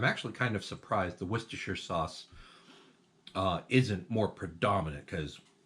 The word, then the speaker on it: Worcestershire: the smell of Worcestershire, or Worcester as the English will pronounce it, because apparently whole syllables can just go away.